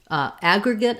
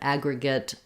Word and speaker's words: aggregate: to aggregate Agra get aggregate has first syllable stress and letter A says the a sound like in cat or black and then two G's that just say the g sound um Agra because this middle syllable is unstressed we have a schwa there for letter e and again aggregate another schwa for our final vowel because it's also unstressed so it sounds like Agra good good or gut